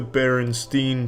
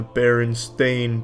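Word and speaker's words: Berenstain: children's books as the Baronstein Bears, but apparently it's always been the Baron Stain Bears by Stan and Jan Baron Stain, not Baronstein.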